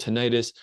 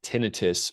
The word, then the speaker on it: tinnitus: in the head and that's called tenitis. I'll pronounce it tinitus for the rest of this talk as that's more common uh in in my line of work.